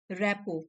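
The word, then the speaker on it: rapport: means Modi ji के रैप और देखिए इसको कैसे प्रोनाउंस करेंगे लास्ट के जो वर्ड्स है वो साइलेंट है रेपो रेपो ठीक है इसका मीनिंग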